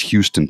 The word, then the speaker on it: Houston: But how do you pronounce it? It's Houston, Texas, not Hston, Texas.